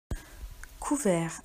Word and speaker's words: couvert: Couvert. Attention, il y a un T muet à la fin du mot.